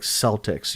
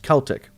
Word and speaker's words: Celtic: In the US, we typically pronounce it like Celtics. Yeah, cuz we have a foot we have a basketball team called the Celtics, but it's but it's pronounced Celtic.